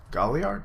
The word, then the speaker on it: Galliard: Is that how you pronounce his name? That's what I'm going to say, Galliard or Galliard? No, it'd be Galliard.